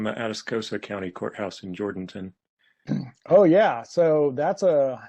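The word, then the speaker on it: Jourdanton: also it's pronounced jurdington by the locals always pronounce jordanton and and the locals all say jordanton so so just fyi i'm sorry i didn't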